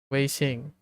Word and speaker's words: 微信: Weixing.